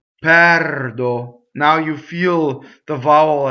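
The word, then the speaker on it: perdo: So here's our first open E, right? Now, what do we do with open E if we're Americans, right? We tend to make it rhyme with chair. Like, think about if you said chairdo, pɛrdo, right? We do that when we have an R. It's pɛrdo.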